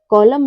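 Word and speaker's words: column: कि एम के बाद यानी यानी क्या है एम के बाद यदि एन आता है तो हमारा एन जो है वो क्या होता है व साइलेंट रहता है लेटर पी कब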